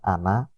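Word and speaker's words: أنا: Pada lafaz ana, na panjang, fathah bertemu alif yang pada umumnya di situ dibaca panjang, khusus pada kalimat ana, nanya dibaca pendek.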